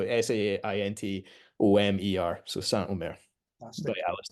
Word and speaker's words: Saint Omer: Spelled like Saint O, so Saintomer.